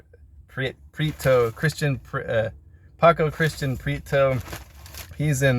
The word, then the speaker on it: Prieto: Prieto, Paco Christian Prieto.